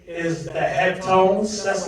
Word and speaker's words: Heptones: It's like they're saying hip tones, but it's pronounced Heptones.